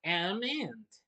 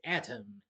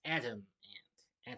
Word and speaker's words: Atom Ant: So this week's Saturday morning TV log is Adam Ant, or I should pronounce it Atom Ant, but I just say either way, so this way I don't get something else mixed up with the singer musician Adam Ant, but it's Atom Ant, Atom.